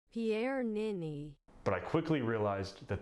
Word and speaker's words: Pierre Niney: But after doing some in-depth research, I not only learned how to pronounce his name, Pierre Nini, but I quickly realized that the man is a hair god.